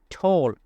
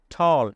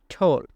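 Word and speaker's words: tall: Then she ইজ, সে হয় ঠোল, লম্বা। এটাকে আমরা অনেকেই উচ্চারণ করে থাকি ঠল, এটা সঠিক উচ্চারণ হবে ঠোল।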